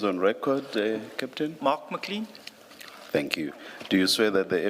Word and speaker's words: McLean: Do you pronounce it McLean? McLean, not toothpaste, McLean, but the A In- out.